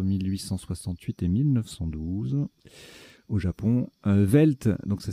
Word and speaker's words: veld: Velt, donc ça s'écrit VELD ou VELDT.